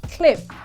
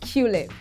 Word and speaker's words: Qlip: no no no no it's pronounced cliff and not culip cliff cliff is africa's number